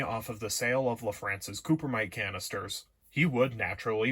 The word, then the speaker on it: LaFrance: And here I should say that it is indeed pronounced LaFrance and not LaFrance, as I have heard some people say.